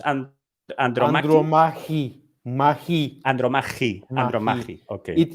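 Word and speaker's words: Ανδρομάχη: How is pronounced Andromache? Andromachi.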